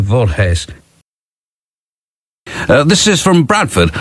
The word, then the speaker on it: Voorhees: It's spelled V O R H WS and I think it's something like Vorhees.